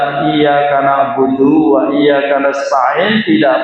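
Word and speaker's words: إِيَّاكَ: kepadamu ya Allah, kalau tidak pakai tasjid Iyyaka hanya ke sinar matahari. Na'budu saya menyembah wa Iyyaka dan kepada sinar matahari kita memohon pertolongan. Na'udzubillah min dzalik. Jadi yang penting niki. Jadi jangan sampai bacanya Iyyaka itu tanpa tasjid. Karena kalau tanpa tasjid yang kita sembah adalah sinar matahari.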